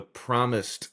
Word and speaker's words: promised: Pro the promised with a D, promised land. It's land that has been past tense promised, and you are looking forward to going towards it future.